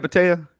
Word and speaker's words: Mata: know what you're doing uh Mata something I wanted to ask am I saying it right Mata yes okay very good um your